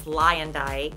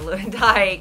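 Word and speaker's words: Luyendyk: Ari, which I just found out it's Lyondike instead of Lewandike. Isn't that awful? I had no idea. I didn't either. I thought it was Lewandike. So anyway, that's the way you pronounce it.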